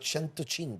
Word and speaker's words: Cento: was a radio station in Italy called radio Cento radio 105. oh yeah is 100. they pronounced the Seas as a ch right Italiano